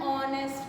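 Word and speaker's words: honest: ये सारे जो है वर्ड्स, इसमें एच साइलेंट है, and they are producing, they are starting with O sound.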